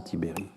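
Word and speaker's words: Tiberj: tibéry le le le J est un i muet en roumain hein en roumain il y a des i muet comme il y a des e muet en français et donc ce i se prononce à peine donc c'est en fait Vincent tibéry et il s'est exprimé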